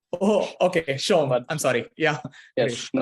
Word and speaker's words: Shome: Arumoy Shome, if I'm not wrong with the pronunciation. So Arumoy, are you there? Yes, you got it almost Yes. right. It's Shome. Oh, okay, Shome.